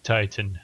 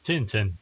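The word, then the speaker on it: Tintin: Next game, The Adventures of Titan the game. Oh, anyone? That's a terrible title. Wait, the Titans as in the Tin Titans? Uh, no. Oh, wait. I pronounced it wrong. The Adventures of Tinten the game.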